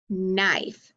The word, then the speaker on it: knife: napped perfect all right let's change our ghost letter digraph to k n so if i have k n up there what happens if i pull i f e up here then i'd have n i f knife very good what